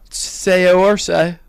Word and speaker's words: Saoirse: Chalamet versus Saoirse. Saoirse. Yeah. Say or say.